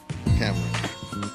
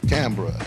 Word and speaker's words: Canberra: Cameron. And I said it right? I'm going to Cameron tomorrow. Canberra. I didn't say it right.